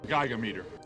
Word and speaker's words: Gigameter: Before we begin, there are roughly three pronunciations of the Gigameter's prefix. Giga, Giga, and Giga. 21 gigawatts! Since Egon says Gigameter, that's what we'll be using.